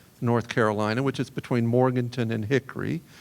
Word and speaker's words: Morganton: Carolina, which is between Morganton and Hickory, or if you say it correctly. I was born and bred in Valdez, North Carolina. It's right between Morton and Hickory, not even an hour down the mountain.